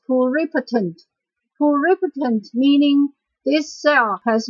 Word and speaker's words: pluripotent: One more example for pluri, but this time, because the word that connects with the prefix, we will change the way we pronounce it. It's pronounced as pluripotent.